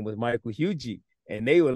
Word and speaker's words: Huger: My last name is pronounced Hugie. So my mom is from South Carolina and dad from South Carolina, and our last name is pronounced Hugie.